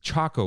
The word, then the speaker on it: Choco: my friend no dude it's choco like chocolate but and it rhymes with taco i know it's spelled